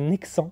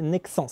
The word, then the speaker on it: Nexans: qui m'a envoyé ça j'ai toujours cru qu'on disait Nexant et voilà il a fallu attendre ça pour que je sache qu'on disait Nexans le S à la fin se prononce voilà les dérouleurs avec